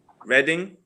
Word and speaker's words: Reading: town here she's my city what'd you say reading yes yeah that's like like you i mean of course it looks also like reading but most of the time like if you